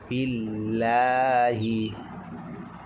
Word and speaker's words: বিল্লাহি: এখানে বিল, বিল এরকম মোটা হবে না। বিল্লাহি, বিল্লাহি।